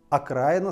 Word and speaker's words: окраина: русском языке есть слово окраина окраина с ударением на а украина а есть украина и с ударением на и украина и в русском языке